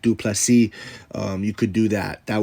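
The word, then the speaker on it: Du Plessis: want to give him Dricus, the S is silent, Duplessis.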